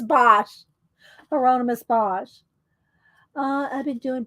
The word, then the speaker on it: Bosch: And I spelled his name wrong, but it's Bosch.